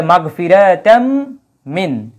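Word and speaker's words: مغفرةً من: যেটা তাজইদের নিয়ম অনুযায়ী সেটা ইদগাম হয়ে যায় তো ঈদগাম করার জন্য মিমের উপরে এই জায়গায় তাসদি দেওয়া হয়েছে ঠিক আছে মিমের উপরে তাসদ দেওয়া হয়েছে যাতে করে ঈদগাম করে মাগফিরাতাম একসাথে মিমের সাথে উচ্চারণ করা যায় তাইলে মাগফিরাতাম মিন মাগফিরাত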